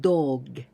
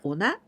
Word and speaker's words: 同: 警察犬, a guide dog. 盲導犬, 盲導犬. This kanji means the same, identical, equal. 同じ from ona, and also we pronounce do.